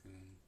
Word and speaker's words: Kuhn: We don't really know what Kuhn's model is without reading thoroughly into Kuhn. How do you pronounce Kuhn? Kuhn. Yeah. O is in goose.